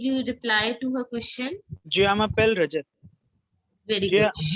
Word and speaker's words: je m'appelle: Je m'appelle Rajat. Very good. J m'appelle Rajat. Yeah. Je should be like je m'appelle.